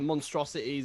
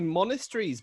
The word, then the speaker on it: Monasteries: as well like like nobody can um pronounce like monasteries as well like we've had so many different ones over the years like monstrosities on my monster rory's just like it's it's literally monasteries but sorry it's literally